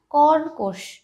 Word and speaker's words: কর্কশ: কর্কশ, কর্কশ বন্ধুরা, কর্কশ। এখানেও কয়ের মাথায় রেফ আছে তাই এই কয়ের আগেও কিন্তু একটা রয়ের উচ্চারণ আসছে, কর্কশ উচ্চারণটা।